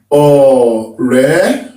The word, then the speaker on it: Ọ̀rẹ́: Ọ̀rẹ́. Okay, so the vowels, should they have any bottom mark?